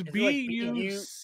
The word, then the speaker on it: Bucyrus: It's B-U-C-Y-R-U-S. Bucyrus. Oh, just like it sounds.